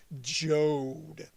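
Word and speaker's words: Joad: 1995, Bruce Springsteen released album number 11, The Ghost of Tom Jode, spelled like Toad but with a J. Jode.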